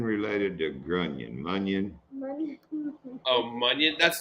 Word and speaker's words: Munyon: So it's spelled more like Funyun. Yeah. Like a Funyun.